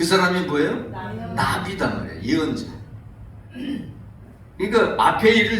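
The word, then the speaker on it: נביא: 성경에서 말하는 예언자를 뭐라고 얘기하냐면 나비라고 그래요. 나비. 재밌죠? 나비. 우리말로 하면 훌훌 날아다니는 나비, 호랑나비, 그런 그 나비라고 얘기하는데 우리 발음은 똑같아요.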